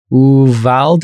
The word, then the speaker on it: Uvalde: Uvalde, I believe is how it's pronounced. Uvalde, yeah.